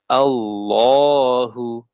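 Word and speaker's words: الله: harakat thha begitu nah lafaz Allah juga dalam mushaf Madinah Ya kalau kita lihat itu dia lafaz Allah dia tidak ditulis dengan Alif tegak seperti di Indonesia dia Alif dia eh Afan Alif iya ee Iya Alif tegak ya Nah dia hanya dengan fathah biasa nah Namun kita harus tahu cara bacanya dipanjangkan Allahu nah Allahu walaupun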